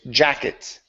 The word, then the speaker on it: jacket: jacket with this um so the difference here when you're pronouncing the T in in Portuguese it sounds to me like a CH and so um when you pronounce a Portuguese T it sounds like you're saying jacket okay understand okay so